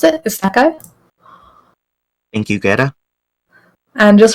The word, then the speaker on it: isekai: I think that's how you pronounce it, Isekai.